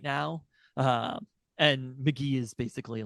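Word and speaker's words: Mk.gee: And McGee is basically like, he's definitely, I would say he's number one on the next up in the world of alt/pop/rock, you know?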